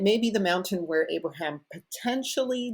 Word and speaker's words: Abraham: Negev can be pronounced Negev or Negeb, just like Abraham can be pronounced Abraham or Avraham. The V and B are interchangeable.